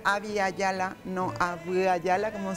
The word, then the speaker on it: Abya Yala: esa zona y entonces se pronuncia había ya la no vida ya la